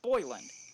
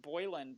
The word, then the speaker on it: Boylan: and was like hey my name is actually pronounced boilin but please continue pronouncing